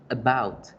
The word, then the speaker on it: about: Entonces, fijémonos aquí en la palabra about, la fuerza se hace en bout. Por eso es que esa A se dice como la schwa, about, about, about.